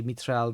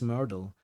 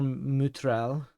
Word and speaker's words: Mytrel: Um, but you know, northern European countries usually pronounce it mitral or mutral. Finland usually pronounced it mutral because the y sound is usually closer to ooh sound in the language.